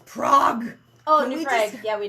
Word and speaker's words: Prague: way that people pronounce New Prague okay I'm just gonna I'm spitting it out there now they you guys say new prag it's Prague oh new PR yeah